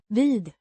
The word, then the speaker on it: vid: Pronounced Veed. similar to the English word weed, but with a short e sound.